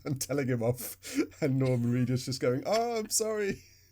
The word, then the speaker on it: Norman Reedus: Norman Reedus, yeah.